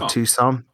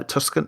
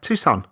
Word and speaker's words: Tucson: No, Tucson. Yeah. T U S C O N. Yeah. Uh, Tuscan. Yeah, Tucson. That's pronounced.